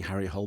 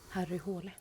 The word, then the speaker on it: Harry Hole: Harry hull because I'd be going around saying Harry Hole but that's not the right pronunciation is it Harry houla so what are we going with that away